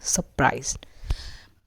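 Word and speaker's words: surprised: अब जो इसमें भी र है, ये देखिए जो र है दैट इज ऑल्सो साइलेंट। ये जो हमारा र है that is also silent, सरप्राइज्ड।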